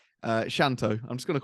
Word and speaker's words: Shanto: and it was only really because of Najmul Shanto, is how you say his name. Shanto, I'm just going to call him Shanto.